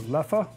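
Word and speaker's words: Leffe: told me yes apparently it really depends on what part of belgium you're in as to how you pronounce it if it's left or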